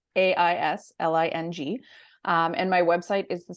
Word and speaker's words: Aisling: So my Instagram is just at Aisling, and nobody ever knows how to spell it or pronounce it. So it's Aisling.